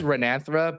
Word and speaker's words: Renanthera: It is Renanthera, but it's like hard to say.